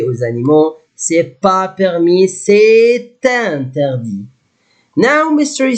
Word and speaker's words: c'est interdit: If you would together, c'est interdit. Must say pronounce letter T because I have vowel. Here, I will not pronounce it.